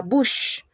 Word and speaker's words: bouche: Ok, la bouche. On ne prononce pas la E. Bouche, bouche, bouche.